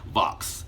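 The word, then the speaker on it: Vauhxx: A black man named, it's a weird spelling name, V-A-U-H-X-S. No, V-A-U-H-X-X. Yes, that's how his name is spelled. Vox.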